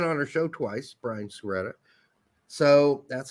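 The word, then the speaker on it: Sciaretta: He's been on our show twice, Brian Suretta. So that's how he told us to pronounce his name.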